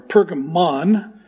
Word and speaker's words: Pergamon: One is Pergamum, as I'm pronouncing it today, or Pergamon, like Pokemon, or Pergamos.